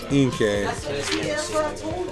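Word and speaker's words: Inkay: Rotom Dex, Simpor, Electrobuzz, Tynamo, Duskull, Inke, rhymes with Pinke, Stuffle, Crabwaller, Reverse Holo Krogunk, and a Necrozema.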